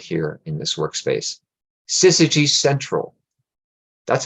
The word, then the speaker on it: syzygy: on slooh is right here in this workspace sigy central that's how you say that word if you haven't uh heard it pronounced before it's actually Greek word in in